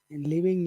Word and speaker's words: leaving: leaving him leaving him leaving him leing him you're saying V you're saying leing him but it's leaving him leaving him like that yeah leaving him leaving